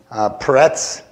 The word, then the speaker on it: Peretz: So we are looking at Perez today, Peretz. If you think of it in Hebrew, that's kind of how it's pronounced, Peretz, but we put a Z on it because we don't really end in many things.